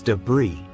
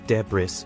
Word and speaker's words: debris: incorrectly pronounce it as deis because of the visible s however in English the word is derived from French where the S is silent now an example the